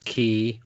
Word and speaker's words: ki: As the sun rises and sets, as the oceans ebb and flow, so does ki or chi, depending on your pronunciation or where you're located, circulate in the human body.